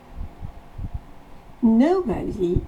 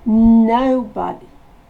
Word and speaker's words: nobody: Nobody is absent in our group. Le no se prononce O. On part du E, on va vers le O. No. Nobody.